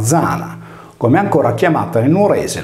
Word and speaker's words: Diana: Le migliaia di domus de Janas sarde devono il proprio nome a Diana, divinità lunare, per cui con la stessa regola Diana si leggeva Zana, come ancora chiamata nel nuorese la Giana.